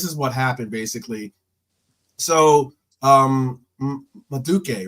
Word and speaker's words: Madueke: So Maduke, right? That's how you pronounce his name, right? Madueke.